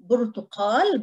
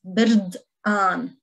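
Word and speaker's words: بردقان: This one we pronounce it as birdan. The standard word is burtuqal, but in Lebanese it's birdan, birdan.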